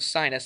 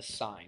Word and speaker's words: sin: of saying the word sinus i n e of a we just put s-i-n now it looks like you would pronounce it sin but we don't say that we say It's The Sign we still say it's